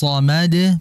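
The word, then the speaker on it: الصمد: itu dan allahus Somad perhatikan ketika hu masuk ke huruf Shad maka posisi pengucapan Shad jangan ketika monyong namun bibir sudah Netral Allah husad akan berbeda dengan ee pengucapan di kala monyong allahus Somad beda jadi hati-hati agar Shad tidak dibaca di kalala monyong melainkan netralkan terlebih dahulu kembalikan dulu itu saja Barakallah fiha Baik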